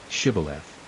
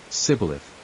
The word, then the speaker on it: Shibboleth: If he said, No, then they would say to him, Then say, Shibboleth. And he would say, Sibboleth, for he could not pronounce it right.